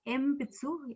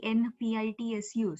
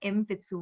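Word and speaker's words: 鉛筆: So it is Empitsu. Even if you write in Romaji ENPITSU, so it will not be Enpitsu. It will be Empitsu.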